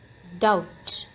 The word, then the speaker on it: doubt: in this word handkerchief doubt the letter b is silent in this word doubt him the silent